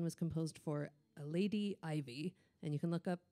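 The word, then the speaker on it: Iveagh: And this one was composed for a Lady Ivy. And you can look up, there's apparently lots of Lady Ivies. It's spelled I-V-E-A-G-H.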